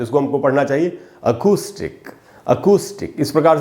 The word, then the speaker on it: acoustic: ये दोस्तों अकूस्टिक, इसको पढ़ना चाहिए। अकाउस्टिक नहीं पढ़ेंगे, अकूस्टिक पढ़ेंगे। आधा अ है।